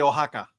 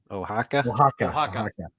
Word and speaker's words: Oaxaca: Ed, pronounce those names for us that Zach said. Yes. Conspiradores de Querétaro, sorry. Guerreros de Oaxaca. Oaxaca.